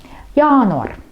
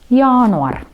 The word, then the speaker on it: jaanuar: Итак, esimene, первое, jaanuar, и ударение на первый слог, jaanuar, jaanuar, veebruar, märts, aprill, mai, juuni, juuli, august.